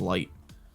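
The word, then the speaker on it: 月: He's like, it's written with the character of Moon and something else, and it's pronounced as Light.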